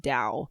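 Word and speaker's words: Tao: I saw this it it's like t a o is how it's spelled but it's pronounced Dao the Dao of Pooh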